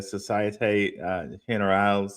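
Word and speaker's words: Société Générale: of the world, Jesse told me how to pronounce Societe Generale. He's like, "It's Societe Generale, oui oui."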